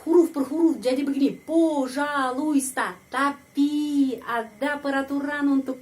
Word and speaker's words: пожалуйста: Пожалуйста. Tapi ada peraturan untuk pengucapan. Penekanannya berada pada huruf A. Karena itu huruf O ini dibaca A. Пожалуйста. Dan huruf I di sini tidak dibaca.